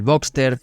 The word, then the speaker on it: Boxster: ya que mucha gente olvidaban la S de Robster y lo escribe como Boxter, que es como se pronuncia, pero el nombre correcto lleva esa S porque viene de Robster, el modelo básico del Boxter.